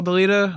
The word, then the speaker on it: Dailyda: Okay, my name's Kyle Dailyda. I'm from New Jersey. Wait. What? Say that last name again. Dailyda.